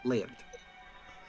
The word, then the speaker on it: Laird: Oh, it is a, in Wolver tongue, when you say Lord, it is pronounced Laird.